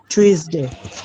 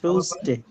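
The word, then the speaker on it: Tuesday: এস ডি এ ওয়াই এটার সঠিক উচ্চারণ কি জানেন কেউ টিউসডে আচ্ছা আচ্ছা আর কেউ টুসডে থার্সডে আচ্ছা না না মঙ্গলবার মঙ্গলবারের ইংলিশ টুসডে আচ্ছা এটা হচ্ছে আমাদের দেশের বিশেষ করে অনেক ভুল করে থাকি হ্যাঁ আমাদের যে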